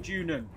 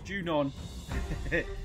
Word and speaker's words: Junon: jun's doorstep junon i' I've called it junan it's junon I need to learn